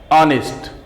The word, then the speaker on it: honest: एच is consonant words, but in some certain words H is silent, and where H is silent you can see here HOUR, but pronunciation is just like O, honest, honorable.